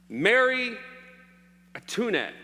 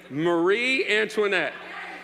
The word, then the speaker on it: Marie Antoinette: Mary Antoinette. Is that how you say it? Antoinette. You're supposed to whisper it next time. It's Mary. Marie Antoinette.